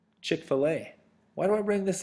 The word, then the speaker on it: Chick-fil-A: So, it's Chick-fil-A. Or if you like to call it Chickfila, you can do that. I've heard people pronounce it that way, too. But it's Chick-fil-A.